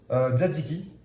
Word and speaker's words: tzatziki: Tzatziki. Ok. À pas confondre, les gens souvent disent tzatziki. Pas du tout, il y a un T, donc on le prononce. on prononce tzatziki.